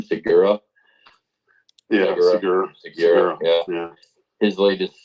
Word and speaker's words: Segura: Segura.